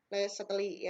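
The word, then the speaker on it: Le Chatelier: Le-Chatelier ya dibacanya.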